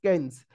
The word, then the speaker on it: Keynes: जणे महानुभव थिले बा इकोनॉमिस्ट थिले, सिए होचंद केन्स। ओके, तांको पूरा ना होची John Maynard केन्स। Okay, spelling दा ओके ठीक अछि, KEYNES। Okay, KEYNES केन्स।